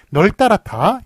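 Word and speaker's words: 널따랗다: 널따라타 역시 이것도 널따라타 앞에 걸로 발음하기 때문에 지금 이렇게 리을 비읍 다 적지 않고 앞에 걸로 적어주는 것을 볼 수 있습니다.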